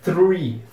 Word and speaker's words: three: tem o r depois então é three three muitas pessoas T um pouco de dificuldade no começo e querem meio que não pronunciar desse jeito querem Cortar esse th e falar three como se fosse se não como se não tivesse o th como se fosse só o TR mas isso tá errado